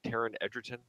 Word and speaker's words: Taron Egerton: And so this was a movie, obviously starring Kevin Spacey and what am I pronouncing his name right? Taron Egerton.